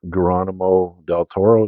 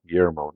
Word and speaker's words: Guillermo del Toro: now next up is number 84 which is Geronimo Del Toro is that how you pronounce his name Guillermo Guillermo del Toro's film Pan's Labyrinth no issue with